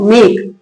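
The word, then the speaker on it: make: मेक इ क्या है? इ यहां साइलेंट है। वर्ड के लास्ट में इ आता है तो इ क्या होता है? वाइलेंट होता है। इ का उच्चारण नहीं होता है।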